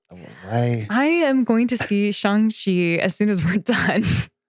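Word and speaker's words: Shang-Chi: in the movie because as a kid i pronounced it shang chi yeah and then i have a chinese friend who's like oh you're going to go see shangshi and i was like what my mind was blown is that how you pronounce that feeling very ugly american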